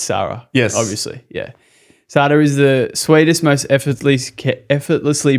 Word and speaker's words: Sarah: So it's spelled Sarah, but it's Sada. Yes. Yeah, okay. There we go. I was confused. So roll the R in Spanish.